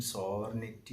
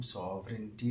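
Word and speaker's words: sovereignty: മറ്റൊരു വാക്കാണ് സോവറിനിറ്റി എന്നത് ഈ വാക്ക് സോവറിനിറ്റി എന്നാണ് വായിക്കേണ്ടത് പലരും സോവറിനിറ്റി എന്നൊക്കെ വായിച്ച് നമ്മൾ കേട്ടിട്ടുണ്ട് കറക്റ്റ് ഉച്ചാരണം സോവറിനിറ്റി എന്നാണ് അതായത് പരമാധികാരം എന്നാണ് അതിൻറെ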